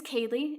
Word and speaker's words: Kali: you don't already know my name is kaylee it spelled kaal I I know it spelled like Kali and I don't pronounce it that way don't ask me why